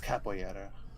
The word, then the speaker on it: capoeira: I think it was capoeira. Something like that. I'm sure. Capoeira. Huh? You Capoeira. pronounce it capoeira. Oh, really? Yeah, the R is like one of those Oh. like RY sounds.